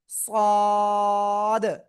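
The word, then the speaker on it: ص: এই যে অক্ষরটা এ অক্ষরটা মোটা আওয়াজে উচ্চারণ করতে হবে। ওই একই জায়গায় জিহ্বার আগা সামনে নিচের দিয়ে দাঁতের পেটও আগার সাথে লাগিয়ে মোটা আওয়াজে আমরা উচ্চারণ করব। সদ সদ।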